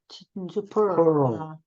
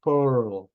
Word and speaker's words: pearl: pearl. 펄이 아니고 R 발음을 해야 돼요. 나 했어요. 끝낼 때 L로 넘어가면 돼요. pearl.